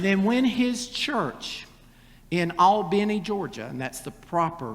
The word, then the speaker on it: Albany: And then when his church in Albany, Georgia, and that's the proper pronunciation of that town, when the deacon stood